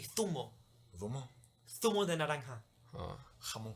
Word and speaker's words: zumo: But it's with a Z, so it's actually zumo.